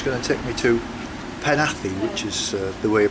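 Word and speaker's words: Penally: the 520 she's going to take me to panathi Which is the way you pronounce it not the pen alley pan athlete apparently back to the campsite it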